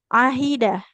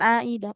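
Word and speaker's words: عهد: Ahida. Ahida eh huruf H-nya jangan seperti ke Hamzah ya. Jangan aida ahida ilaina.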